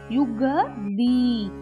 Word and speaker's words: யுகளி: தாட்டங்க யுகளி யுகளி cock மேல 3 இருக்கு, கா உச்சரிக்கணும். காயத்ரி கங்காக்கு வர க.